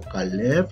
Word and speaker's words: Caleb: En este caso, Caleb, la sílaba tónica es la última, fíjense.